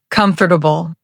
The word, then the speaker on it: comfortable: Many students pronounce every syllable comfortably, but native speakers say comfortably. Try it slowly, comfortable.